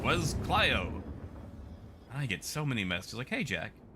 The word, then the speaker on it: Clio: can pronounce clio as cleo either way but the traditional greek pronunciation is clio and it's based off you know the the greek muse which was clyo a